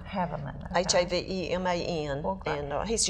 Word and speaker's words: Haveman: I'm looking forward to seeing Chris, I think he pronounces his name Haveman. Haveman.